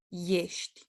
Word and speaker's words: ești: These are another exception of a word that begins with e, but it's pronounced with ye, ești, este.